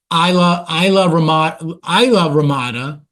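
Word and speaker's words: Islamorada: Isla Mirada, it says Isla Mirada. People pronounce it locally Isla Ramada.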